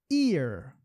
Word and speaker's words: ear: As pessoas, até se treinar um pouquinho, acham que essas duas palavras têm a mesma pronúncia. E não tem, ok? Ear é uma coisa, a orelha. Year é outra coisa. Year, olha só, eu tô puxando um year. Aqui é ear, tá? Então é bem diferente assim, né?